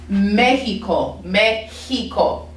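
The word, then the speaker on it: México: the letter x okay now x a lot of times makes like an h sound if i'm thinking of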